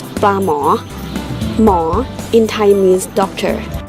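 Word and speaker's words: ปลาหมอ: In Thai we pronounce pla mo.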